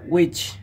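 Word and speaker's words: which: এটা উইচ, নট হুইচ, ইটস উইচ।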